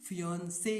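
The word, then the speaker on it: fiancée: बट दोनों का pronunciation एक ही है, दोनों को ही फियांसे ही बोला जाता है।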